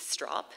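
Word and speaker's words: Stroup: One of them was named Keith Strop. It's easy to remember because it rhymes with cop.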